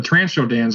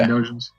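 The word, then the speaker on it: Trandoshans: I Oh, like I just- the Transhodans are on Arshadag, right? Trandosians? Yeah. Trandosians. I always pronounce that wrong.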